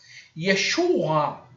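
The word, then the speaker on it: ישוע: A mesma coisa o Ain de Yeshua. Não é 100% o A aqui, a pronúncia. É quase vomitando essa palavra, essa letra aqui. Yeshua.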